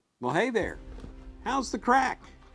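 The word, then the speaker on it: craic: hey there how's the crack the crack is spelled c-r-a-i-c it's an Irish word and it actually means fun so over in Ireland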